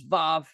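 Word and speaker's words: וו: So I say vav, I pronounce this as vav.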